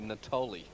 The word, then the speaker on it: Natoli: for there isn't he Natalie he just very excited by that goal he'll be impressed by being called a girl's name it's actually Natoli Nat is it yes